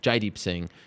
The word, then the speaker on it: Jaideep Singh: Jaideep Singh is the correct way to pronounce his name.